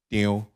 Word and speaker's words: Teo: Teo is a Hokkien dialect, which pronounced in Teo.